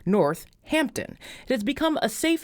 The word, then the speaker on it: Northampton: of the town is spelled with only one H but it is distinctly pronounced with two h's North Hampton it has become a